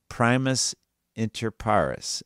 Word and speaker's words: primus inter pares: but only in the sense that he is primus inter pares. Oh boy, more Latin. Help me out, Michael. What is that? Did I pronounce that correctly?